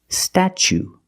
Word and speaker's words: statue: For the first vowel, we use the short a like black cat. Sta. Then we use the ch sound. Stat. Statue. For the second syllable, we use the long oo like boot and moon.